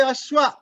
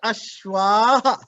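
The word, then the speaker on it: अश्वः: You cannot say ashwa. You have to put ashwaha. That is called visarga. The ha sound should come.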